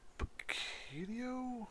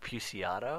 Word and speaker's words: Puciato: Greg, Picchio? I don't know. Dan. I think it's like Puciato. Puciato? Yeah. Yeah, let's go with that.